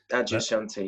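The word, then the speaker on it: Adyashanti: know if this is the right way to pronounce it Adia Shanti is that right Adia Shanti yeah yeah an American spiritual teacher can you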